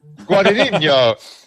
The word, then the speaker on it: Guadagnino: Nick, can you pronounce his last name? Yeah, Guadagnino. Wow, damn! Don't flex on me like that. He had that Luca one already teed up, Guadagnino, ready to go.